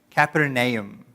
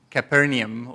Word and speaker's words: Capernaum: the pronunciation wrong okay Capra Nahum that's how you say it Capra nom nom Katherine now you can you can you can smooth that out and say just Capernaum or something but it's